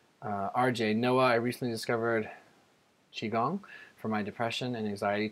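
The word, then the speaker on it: qigong: RJ, Noah, I recently discovered Qi Gong for my depression and anxiety. Terrific results thus far, 3 weeks. Have you heard of Qi Gong?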